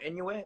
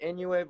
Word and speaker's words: Inoue: Oh, Inoue? Okay. Inoue. There you go. I know I was pronouncing his name wrong this whole time. I didn't know how to say it.